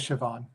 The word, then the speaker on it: Siobhan: I think it's Siobhan. Irish. Yeah. If it's not Irish, Siobhan, I apologize. No, it is Irish, and it is Siobhan.